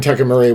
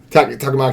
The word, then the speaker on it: Takamaki: said, I'll pull up an image of Anne Takamori, whatever, however you say her name is. But I was like, you had me at Catwoman, what? Is it Takamori? I forget how you say it. Or Takamaki?